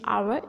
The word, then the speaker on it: hour: As you know, an hour, H is consonant word, but its pronunciation is hour, and this is vowel sound.